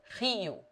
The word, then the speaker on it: Rio: When it begins a word or is double, it is rolled, as in French or Spanish. Rio.